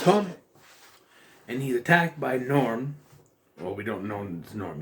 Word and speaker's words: Gnorm: but then he's like the g is silent no it's get not